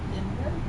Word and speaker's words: Dynevor: How do you say Dynevor? Denver? Okay.